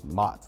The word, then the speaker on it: Maht: Like you see Mott, I think everybody when they see it, it's Mott.